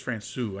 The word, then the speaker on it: Francouz: I think it was Francouz. I've been saying it wrong. Francouz. It's a French C with the little squiggly thing, right?